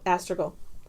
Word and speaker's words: astragal: it Astrid all astragal like like almost go like seagull but not mastered Rugal astragal and str AG and